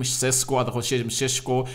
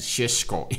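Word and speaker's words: Šeško: over the news benjamin people call him cesc but i've heard that in slovenia you you the bright pronunciation of this guy is sheshko in there for you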